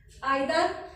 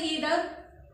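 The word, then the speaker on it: either: everybody, anybody, nobody, आइदर, और यू कैन से ईदर, both द pronunciation are correct, आइदर, नाइदर, आइदर means दो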